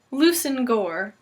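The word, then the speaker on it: Leveson-Gower: written and I'm going to be attempting their pronunciations March Banks Lucen Gore Yol and hoik and this is just strange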